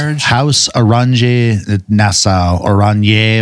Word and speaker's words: Oranje: House Orange Nassau, Oranje, or something like that. Oranje. It's Dutch.